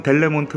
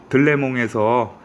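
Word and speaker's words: Delémont: 보이시겠지만 빅토리녹스 스위스 메이드 영어로는 델몬트 라고 적혀 있는데 현지 발음으로는 * 레몽 일하고 있는 다고 하더라구요 네 그래서 어 2 빅토리녹스 제품이 면서 들레 몸에서 제조되었다 하는 일종의 뭐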